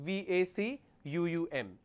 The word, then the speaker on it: vacuum: u m it is incorrect the spelling is v a c uu M how many vs do we have in this